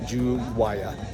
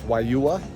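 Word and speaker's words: Juayúa: So, this is Wua. And uh it's not pronounced how it looks guys. It's not jua it's wua.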